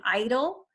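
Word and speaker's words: EIDL: this is e IDL which people are pronouncing idle actually think that's kind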